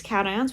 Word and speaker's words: cation: want you to look it's a cat ion like a kitty cat this is not pronounced